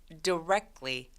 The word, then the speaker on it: directly: 이거 이상하게 막 다이렉트론 이런 것 때문에 그런지 이거를 direct이라고 많이 읽으시거든요. 근데 directly 강세가 이음절에 오기 때문에 이음절의 I 발음은 정확하게 die라고 읽지 않고요.